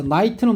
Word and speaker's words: Knight: 아더 왕과 그리고 이제 자, Knight는 뭘까? K 묵음인데 우리 기사입니다, 기사.